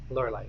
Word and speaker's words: Lorelei: Lorelei is how she pronounced her name.